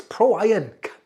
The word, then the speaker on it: PROIRON: by Pro iron now I did have problems pronouncing the name when I was reading it in my mind I looked at it going prorun pro pro on prior and I went it's Pro ion it's funny how when